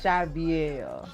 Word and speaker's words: Shy'Viell: That's why I said, because it's Chaville, it's Chaviel. Javier.